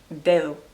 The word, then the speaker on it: dedo: Like, for example, the word dedo, they would say like day, it's like a dedo, but they're just kind of skipping it so much that it's just like barely touching that sound, like dedo.